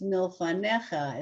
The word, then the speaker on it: Milfanecha: Like in Milfanecha, it's Milfanecha.